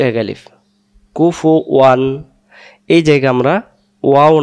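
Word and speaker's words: كُفُوًا: ওয়ালাম ইউলাদ, তারপরে ওয়ালাম ইয়াকুল্লাহু, এই হু এগালিফ কুফু ওয়ান। এই জায়গা আমরা ওয়াও না ওয়ান না পড়ে আমরা বলি কুফু আন আহাত, কুফু আন।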